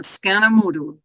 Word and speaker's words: skanomodu: and the ending U reflecting scan with a long a also mood with a long o I should add that